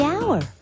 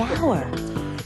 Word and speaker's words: hour: owner the animal the hour wait H is not a vowel sound it's a consonant sound but it's not the first sound the H is silent the hour but what about the